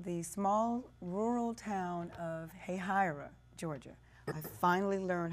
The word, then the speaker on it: Hahira: grown she's from the small rural town of Hahira Georgia I finally learned how to pronounce that hey Hira Georgia which is near it's a very small